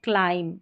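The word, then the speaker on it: climb: यह है com Baum लैम टम और यहां पर है क्लाइम। इसको क्लाइम ब नहीं पढ़ेंगे। क्लाइम एम तक प्रोनाउंस करके छोड़ देंगे। बी साइलेंट है।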